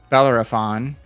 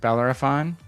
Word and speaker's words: Bellerophon: and bellar bella for uh belarus i can't pronounce it matt smith help me it's it's a british ship hitman help me bellerophon right bellerophon oh you have obie on your side too